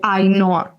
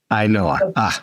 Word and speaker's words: Ainhoa: Yeah, so usually what I tell people to remember how to say the name is like Noah, like the name Noah, and then Ainhoa. Ainhoa. Yeah, or I know a girl. That's usually the easiest way to remember.